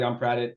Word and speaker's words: Yongpradit: Pat, and I apologize if I mispronounce this, Yongpradit? Yeah, Karen. Hi. Good job. Thank you. Hi, everyone. My name is Pat Yongpradit.